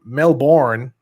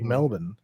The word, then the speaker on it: Melbourne: the city of melbourne not melbourne like the americans say melbourne like ben melvin melvin there you go uh